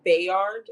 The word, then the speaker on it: Bayard: But right now told it's Bayard like ba like you say both wise.